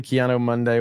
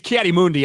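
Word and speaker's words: Ki-Adi-Mundi: You know the Keanu Monday one? I don't know what that is, but you can't figure that one out. I mean, it's Kiati Mundi, obviously, yeah, but like, who said that?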